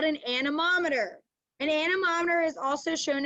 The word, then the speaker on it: anemometer: but i always think you see how it's spelled an anemometer spelled it like it says like it looks like it says annie right a-n-e annie and doesn't dorothy live with annie m or antiem annie m so i always think